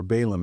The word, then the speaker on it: Baalim: They served Baalim or Balum as we usually pronounce it, which just means lords, uh, masters.